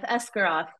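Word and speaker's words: Esgaroth: 14 we go to the lakem men of escaro I said the title I said it right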